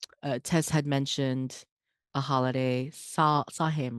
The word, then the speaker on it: Samhain: Tess had mentioned a holiday, saw him, right? Is that how you say it? Samhain. Samhain, thank you.